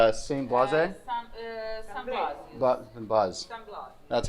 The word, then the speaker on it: Blas: San Blas.